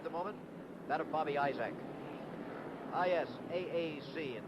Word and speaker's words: Isaac: moment that of Bobby Isaac is a AC and down here they pronounce it I is a close to the time